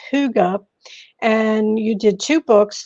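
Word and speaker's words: hygge: is Hy g g which we might think is the term let's get higgy um but no it's pronounced Huga and you did two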